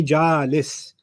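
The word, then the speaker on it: جالس: sitting on this chair you would call me ja alice like rhyming with raw him if i just sat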